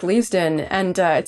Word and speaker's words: Leavesden: next year over at Le leaven am I pronouncing that correctly correct leavesden and uh it sounds like you know they've